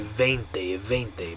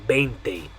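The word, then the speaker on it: veinte: want to say the V sound on this one, because that's the way you say it in English. They want to say 20, but that's not correct. You want to say 20.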